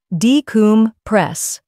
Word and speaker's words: decompress: Stress the third syllable, decompress.